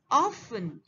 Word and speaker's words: often: third word here is often here t is silent now definitely we will